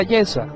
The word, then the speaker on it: Yeshua: concilio buscaban falso testimonio contra Yeshua, es decir, contra Jesús. Así se pronuncia en hebreo el nombre de Jesús, para entregarle a la muerte, y no lo hallaron, aunque muchos testigos falsos se presentaban.